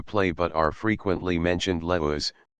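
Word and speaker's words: Laius: but are frequently mentioned leus pronounced as three syllables Laos the last king of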